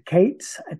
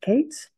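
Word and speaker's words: Kayats: So they're going to be introduced as the K-A-Y-A-T-S. And the Kates, I believe that's how you spell it, the Kates. I believe that's how we're going to say it, Kates.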